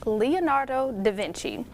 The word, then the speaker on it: Leonardo da Vinci: year so if you didn't know it is pronounced leonardo da vinci and lastly the famous national park in california